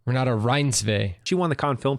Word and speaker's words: Renate Reinsve: Renate Reinsve.